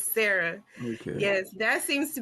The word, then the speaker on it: Sa'Ra: My biggest challenge was always like, how do you pronounce her name? But I'm like, it's Sarah, right? Yes, it's Sarah.